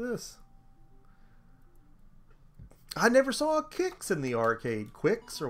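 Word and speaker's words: Qix: I pronounced it Quicks, but I think it's Kicks. Yeah, Kick, because there's no U, so I'd have to say phonetically it's Kicks.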